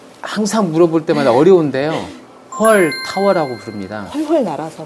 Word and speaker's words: 훨타워: 이렇게 회전한다 해서 그래서 헐타워라고. 월타워는 아니고 헐타워. 그렇습니다. 좀 더 세게 발음을 하면 헐타워라고 할 수 있고 부드럽게 발음하면 월타워라고 할 수 있고.